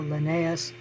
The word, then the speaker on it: Linnaeus: it was carl linnae and uh usually it's pronounced carl linnaeus but uh he even latinized his first name